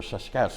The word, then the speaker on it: sasq'ets: they called sasq'ets or saskets. The best way to pronounce it is take the word basket, drop the B and that S-A-S to that.